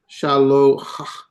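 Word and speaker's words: שָׁלוֹחַ: See, it's hard to say Shaloach. Shaloach. So they put this figurative vowel there.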